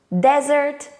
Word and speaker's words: desert: of confusing words is desert dessert what's hot because the spelling is different one s and 2 the vowel sound is also different e and the stress first syllable and second syllable desert dessert but what do these